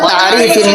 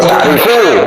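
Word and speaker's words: تعريف: bin Abdul Wahhab wa ta'rifin nasi biha amrun wajib. Ta'rifu, bukan ta'rifi. Bacanya salah itu, bacanya ta'rifi bukan ta'rifi. Oke. Amrun wajib. Bacanya salah itu. Ya, meskipun salah nanti kan bisa terjemahnya kan Ustaz.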